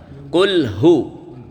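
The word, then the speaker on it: قل هو: 3 Bismillahirrahmanirrahim Qulhu ha hi hu ha itu makhrajnya dipangkal tenggerokan Qulhu ya qulhuwallahu ahad ahad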